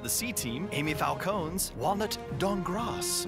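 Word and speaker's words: Dankgrass: C-Team, Amy Falcone's Walnut Dongras. The K is silent.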